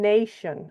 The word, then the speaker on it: nation: All right, and then nation, all right, right? That Tion, we know because we're good readers that makes a sh sound, that shun sound.